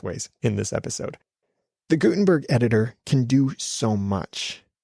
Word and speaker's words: Gutenberg: Gutenberg and I know sometimes I'm pronouncing the T harder than other times that's just sometimes me so you'll hear it both ways in this episode the Gutenberg editor can do so